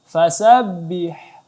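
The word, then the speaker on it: فسبح: Fasabbih. Ya, angin ha di sini jelaskan lagi. Kemudian disambut dengan huruf ba.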